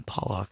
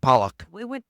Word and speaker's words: Pollock: in 1957 the Pock family. Wait, why are you using that voice? I don't know because just read. I don't know how to pronounce it. It's P O Lock. Yeah, Pollock.